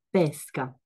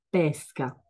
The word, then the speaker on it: pesca: il principio il principio queste parole si chiamano omografi sono parole che si scrivono nello stesso modo ma si pronunciano diversamente e hanno un diverso significato Come si chiama questa questa è una pesca pesca mentre questa attività